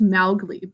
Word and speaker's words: Mowgli: learned this also that mowgli is supposed to be pronounced maugley by the way but it just we are so used to saying mowgli so it just is